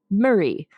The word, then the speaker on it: Moray: Stewart now became the Earl of moray which in Scotland is pronounced Murray um and in a